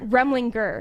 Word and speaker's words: Remlinger: Remlinger? Remlinger. Gur is in Remlinger. like tiger. Yeah. Hannah Remlinger.